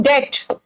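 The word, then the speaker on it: debt: देखो, ही इज इन डेट, बेटा इन डेट, B silent है यहां पे, इसका मतलब है कर्ज में।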